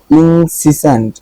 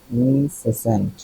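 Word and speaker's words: incessant: ক্ষুদ্র করে এরকম পড়লাম ইনসিসেন্ট ইনসেসেন্ট ইনসাসেন্ট ইনসিসেন্ট ইনসেন্ট ইনসেন্ট ইনসেন্ট সিসেন্ট না সেন্ট এটাই দেখতে চাচ্ছিলাম এটা হল ইনসেন্ট মানে হল অবিচ্ছিন্ন বা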